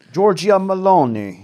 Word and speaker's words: Giorgia Meloni: So the new Italian prime minister, I think her name is Giorgia Meloni. Yeah, say it like this. Giorgia Meloni.